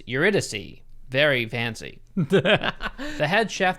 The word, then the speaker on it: Eurydice: ] i just found out that i've been pronouncing the name of the restaurant wrong because it has a very pretentious name it's eurydice very fancy the head chef that works at